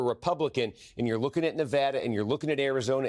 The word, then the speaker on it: Nevada: It's called Nevada.